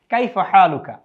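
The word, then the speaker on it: كيف حالك: আরবিতে আমরা কি বলবো কাইফাহালুকা আপনি কেমন আছেন ছেলেদের জন্য কাইফাহালুকা আর মেয়েদের জন্য হলো কাইফাহালু কি একটু পার্থক্য রয়েছে কাকি এটি আমরা অন্য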